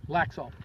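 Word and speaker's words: Laxalt: Adam how do you say his last name laxa Adam laxa attorney general his phone number is 702 486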